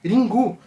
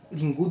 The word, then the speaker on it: Ringu: Ringu, que é a pronúncia japonesa da palavra ring do inglês, pode ter vários significados, como por exemplo um toque de telefone, né?